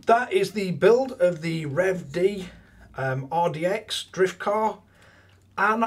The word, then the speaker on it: REVED: cells so yeah the I believe it's pronounced revd RDX temp scale drift